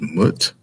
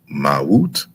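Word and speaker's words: mwt: And then we have, some people pronounce it as mut, but it's mawut.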